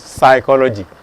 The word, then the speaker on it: psychology: Even though you have the letter P here, it's not pronounced, it is psychology.